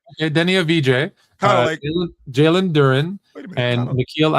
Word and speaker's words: Deni Avdija: Deni It's Deni Avdija. That's the way it's pronounced.